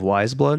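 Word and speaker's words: Weyes Blood: I'm really a big fan of Wise Blood right now. Have you ever heard of her? Wise blood? She it's spelled Weyes. Wise Blood.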